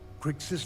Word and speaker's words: Kryx: This that's the right way to pronounce it. Kryx star system.